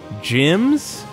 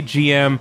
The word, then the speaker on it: GM: the cover of this game is like four gyms which are like the bootleg Gundams that you